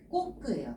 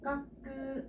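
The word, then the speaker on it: こく: 세일 각자는 음이 꽃끄요. 까꾸 아니에요. 꽃끄라고 읽어 주시면 되겠습니다.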